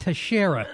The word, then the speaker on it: Teixeira: First of all, I believe it's pronounced Teixeira.